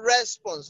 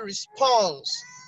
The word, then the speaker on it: response: Now, a lot of us will say response. That's wrong. It's actually response.